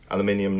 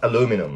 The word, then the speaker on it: aluminium: Again, aluminium nuts. Inside here you can't see, but there are two nuts here inside the battery box. Aluminium. Not aluminum like Americans say.